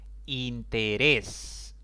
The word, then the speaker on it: interés: que debo ponerle tilde interés es una palabra de tres sílabas contando de izquierda a derecha la mayor intensidad cae en la última sílaba si termina en ese